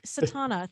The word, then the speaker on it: Satauna: But it's Satana. Think Madonna. It rhymes. It's S like Sierra, A-T like Tango, A-U-N like November, Satauna.